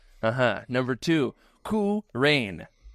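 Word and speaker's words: Qu Rahn: Number two, K Rain. Coup is spelled Qu Rain led Kyle Katarn from beyond as a force ghost and had a very unique lightsaber design.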